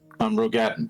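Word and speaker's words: Roegadyn: Rogadin.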